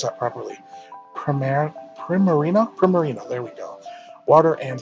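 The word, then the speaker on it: Primarina: in debris on and permit I can never pronounce that properly premier Primmer ena pro marina there we go water and fairy-type god I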